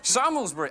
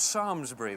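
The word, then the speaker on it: Samlesbury: is actually extant so that's that's how you pronounce that what about sandler's breathing sammelsbury oh there's an airport there it's actually called sarmsbury that one and gus now goose now they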